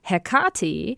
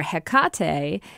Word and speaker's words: Hecate: All the pronunciations are fine in some, and it sounds to me like Hecate or Hecate is close to the ancient Greek pronunciation as far as we know.